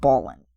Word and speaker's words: Balin: I don't know. I always call it Balin. Well, I go with how they pronounced it in the movies, and it's Balin, so, don't give me much flack for that.